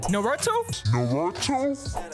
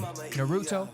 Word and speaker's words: Naruto: to get at me for the way I pronounced the Naruto thing Novato I told you don't butcher that name Naruto Naruto for sure alright guys so today's video